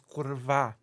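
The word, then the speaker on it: kurwa: with a hard V the way you're actually supposed to pronounce it in Polish is kurva not Kur hard V you know so you're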